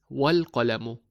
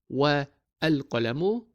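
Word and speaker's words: وَالْقَلَمُ: But when we add wa to it, we read it as wal-qalamu, not wa al-qalamu, but wal-qalamu. We combine them by dropping the a sound of the prefix al.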